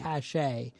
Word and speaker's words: cache: No, I'm saying cache, not like cash. Like burying cash, not really going to help you in the apocalypse. No. But spelt different, pronounced the same. Well, kind of the same, right?